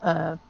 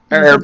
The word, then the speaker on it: herb: Herb, not herb. Herb. There's a fucking H in it, as Eddie Izzard once said. There is no H in herb.